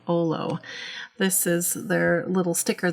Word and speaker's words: Olo: up with the heart and it is olo i checked with their company to make sure i'm pronouncing it right and i think i've got it right saying olom okay so as far